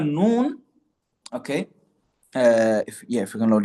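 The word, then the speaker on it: ن: The letter noon, okay, is pronounced by placing the tongue just behind the makhraj of lam. So lam is going to be in front, al, and noon is going to be behind, an.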